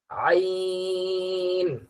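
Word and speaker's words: عين: আবার বলি ত এবার আইন আইন হলকের মাঝখান হলক বলা হয় গলাকে এই গলার এই মাঝের জায়গা থেকে উচ্চারণটা হবে আইন আইন গনের উচ্চারণটা এই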